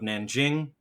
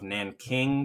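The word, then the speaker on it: Nanjing: as the rape of Nan Jing the rape of Nan King that's an archaic you know improper pronunciation 200 to 300,000 civilians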